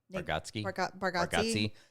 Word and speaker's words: Bargatze: Bargatze hosted the Emmys.